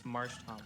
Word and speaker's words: Marshtomp: It's Marshtomp. What else would you say? Marshtomp. Selfie? There's literally no other way to say it.